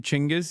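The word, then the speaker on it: Genghis: Uh just learned he you pronounce his name Chingis. Yeah. Jenis. Of course you picked the Turkish one.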